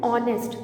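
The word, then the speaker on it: honest: तो एन MLA, एन ऑनेस्ट मैन, क्योंकि ऑनेस्ट में एच साइलेंट होता है तो उसको हम बोलते कैसे हैं, ऑनेस्ट, तो ओ का साउंड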